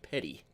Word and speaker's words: Petit: I would say Petty we have a mountain here called Petty Jean Mountain and it's spelled awfully a l close to that and it's definitely pronounced Petty I think that's what